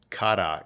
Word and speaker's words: kara: you know, googling and we found that uh kara is a Turkish word. It's actually pronounced uh kada in Turkish means black.